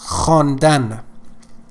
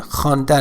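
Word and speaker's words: خواندن: give you some examples honda honda means to read okay we just write it as havon dan but v is silent so as i said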